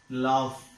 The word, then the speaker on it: laughed: This ed is pronounced as t. Laughed. Laughed, not laugh.